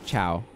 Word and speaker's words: ciao: ci and stuff works because ch makes it a hard c where ci is the ch sound so like ciao is a good example of that so it's like oh